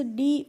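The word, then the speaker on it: do: बाद है word friends डी ओ तो डी ओ को हम पढ़ते हैं डू और डू की हिंदी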